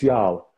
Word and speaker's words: Jarl: Yeah, it's Jarl. Jarl. It's a Swedish name.